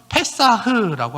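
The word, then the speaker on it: פסח: 히브리어는 페사흐라고 합니다.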